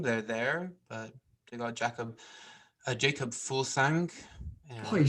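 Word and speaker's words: Jakob Fuglsang: They're there, but they got Jacob Fulsang.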